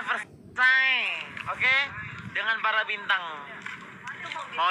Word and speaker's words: Versailles: Bacanya Versailles.